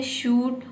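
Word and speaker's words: should: अब देखिए यहां पे है शुड और कुड।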